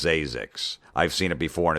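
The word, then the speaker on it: Zzyzx: In the last 15 years, 5 babies have been given the name Zazix. Now, Zazix is spelled Z-Z-Y-Z-X. That's how it's pronounced Zazix.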